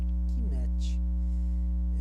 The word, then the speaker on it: Kemet: Na verdade, aqui está escrito Kemet. Kemet. São 3 sílabas.